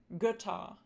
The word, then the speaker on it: Götter: The lax umlauts tend to occur in closed syllables, so syllables that end in consonants. These are often spelled with double consonants too. Some examples are Götter, Männer, and Müller.